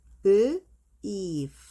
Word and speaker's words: beef: 자, 다시 고기는 meat라고 하는데 소고기는 beef 발음, 여기 F 발음을 할 때는 우리가 이제 입술이 있을 때 윗니로 아랫입술을 많이 물고 뱉어. 그래서 이렇게 하면 되거든요.